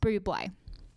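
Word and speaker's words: Bublé: going to be talking about the famous Michael Buble now it is spelled like bubble but it is pronounced blue boy but I just really love Michael Buble and I feel like he is an inspiration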